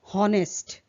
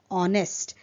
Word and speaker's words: honest: Then honest, which is pronounced as uh wrongly pronounced as honest. Or but it is honest. H is silent.